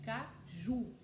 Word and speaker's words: caju: Qual que é a sílaba forte? Caju. O ju.